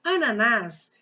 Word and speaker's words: ananás: você prestar atenção olha ananás eu tenho aqui uma palavra oxítona como é que você sabe disso simples na nas é a última sílaba só para convidar na